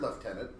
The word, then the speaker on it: lieutenant: knew to spell it I'd always heard leftenant and I just assumed I hadn't seen the spelling yet in a book and it turns out no they're the same word the same word um